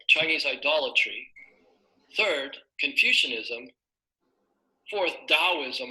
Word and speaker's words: Taoism: idolatry third Confucianism fourth Taoism or some people pronounce it as tau ISM and fifth Mahayana Buddhism